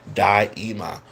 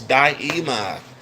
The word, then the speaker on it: Daima: Um, um, this is how you pronounce it, Daima. Oh, thank you for that. Makes it so much easier. It's Daima.